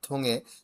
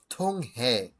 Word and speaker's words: 통해: আর থোঙে, থোং হে, এভাবে এটা বলার প্রয়োজন নাই।